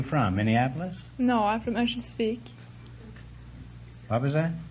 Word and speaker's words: Örnsköldsvik: No, I'm from Örnsköldsvik. What was that? Örnsköldsvik. Could you spell that for the audience?